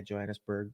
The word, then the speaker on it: Johannesburg: She's from South Africa, Johannesburg, or is that how you say it? Yeah, Johannesburg.